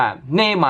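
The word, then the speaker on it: Neymar: เนี่ย เนยมา์ นะ ครับ แต่ ถ้า พาก เสียง ก็ ต้อง อ่าน ว่า เนมา นะ ฮะ อยู่ บราซิล นั่น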